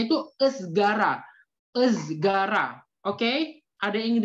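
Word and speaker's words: ızgara: Jadi cara membacanya itu esgara.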